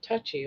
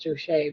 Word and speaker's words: Touchy: And on the ship, his name got changed from Charles Delatouche to Charles Touchy, Touchy, Touchy, or it's actually pronounced Touche, but it looks like Touchy.